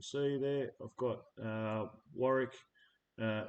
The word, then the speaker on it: Warwick: got uh Warwick uh it's it's spelled differently to what it sounds like but that's because um Warwick the computer can't pronounce it right so I've had to change the way it said it myrique and then you've